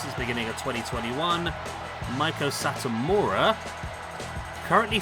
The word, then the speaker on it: Satomura: It's pronounced Meiko Satomura. Okay. I know. Meiko Satomura. Satomura. Not Mura. Mura.